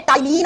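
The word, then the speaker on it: ptyalin: इसी का दूसरा नाम होता है टाइलीन अमाइलेज़ एंजाइम। टाइलीन अमाइलेज़ एंजाइम। देखो बच्चों स्पेलिंग होती है से प्रोनाउंस करते हैं तो पी साइलेंट होता है। टी से बोलते है।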